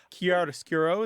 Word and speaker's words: chiaroscuro: Yeah, most Americans don't do the gna, but chiaroscuro is another one where we say the k sound, right, with the ch and the Yep.